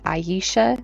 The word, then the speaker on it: Aisha: Aisha or Aisha. I think it's Aisha because it's spelled A I S H A.